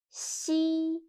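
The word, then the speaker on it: xi: last one is she she sounds a little bit like the first sound of sheep but when pronouncing shi again your tongue should be more flat and you need to stretch your mouth to two sides see listen to me carefully and feel the difference sheep she read after me she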